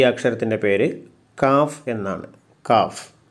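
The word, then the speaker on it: ق: ഈ അക്ഷരത്തിൻ്റെ ഉച്ചാരണം കോഫ് എന്നാണ്, കോഫ്. ഇംഗ്ലീഷ് എഴുതുകയാണെങ്കിൽ ക്യൂ യു എ എഫ്, കോഫ്. നമ്മൾ തൊണ്ട കൊണ്ടാണ് ഉച്ചരിക്കുന്നത്, കോഫ്.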